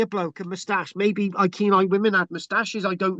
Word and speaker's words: Iceni: And the reason why I'm calling that Iceni, which is spelled Iceni, Iceni. So not the Iceni. Some people say this, the Sinai, pronounce the C as a K, Iceni.